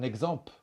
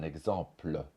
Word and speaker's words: exemple: pe be par exemple on va dire un exemple au lieu de dire un exemple on va dire possible